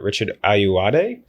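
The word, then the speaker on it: Richard Ayoade: cue I'm gonna pick and I believe in pronouncing right Richard ayuade right oh yeah that's a great haul that's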